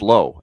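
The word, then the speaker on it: Lowe: Yeah, you got Brandon Laauo, Josh Low, and the last name is spelled exactly the same for both of them. L O E. Yeah, one is Lao, one is low.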